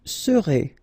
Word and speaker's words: serez: Vous serez, Z together at the end, et serez, all right?